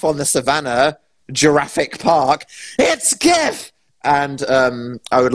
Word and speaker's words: GIF: pronounced gifs but it's the g stands for graphics it's not giraffix like a giraffe on the savannah jurassic park it's gif and um i would